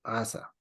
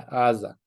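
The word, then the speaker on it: עזה: Ya, Asa. Entonces, la Ayin es la que suena como G. Por eso le ponen Gaza.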